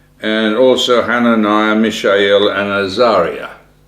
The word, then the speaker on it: Azariah: also hananiah mishel and Azaria or Azariah as some might pronounce it but it these people